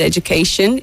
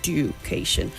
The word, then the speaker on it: education: keep repeating the word education it's j when you have the DU there for Education it's j and not duation and Sage over to